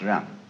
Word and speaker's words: Ren: In Confucius philosophy, the fundamental virtue of a human being is called Ren, spelled Jen for reasons best known to Chinese scholars. I don't know what they are, but it's pronounced Ren.